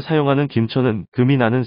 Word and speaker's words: 김천: 비롯된 지명 입니다 이번에는 김천 입니다 경상북도 김천시의 김천은 세금 짤을 사용합니다 세금 자는 김으로 발음 하기도 하지요 김천 도금으로 하지 않고 김 으로 발음하는 경우입니다 세금 자는 새나 금속을